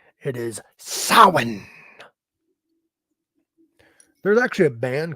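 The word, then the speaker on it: Samhain: medal so many people pronounce it wrong they pronounce it like Sam Hayne I think is how a lot of people pronounce it which is in correct it is sin there's actually a band called sin it's um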